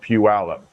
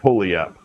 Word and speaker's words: Puyallup: names in Washington is a city called Puyallup. But if you were to phonetically sound it out, it would look like Pulliup. It looks like Pulliup. So anybody not familiar with Washington, I can tell who they are because they'll say Pulliup.